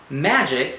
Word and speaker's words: magic: "Magic has a soft G like Jim and a hard C like cup," she said.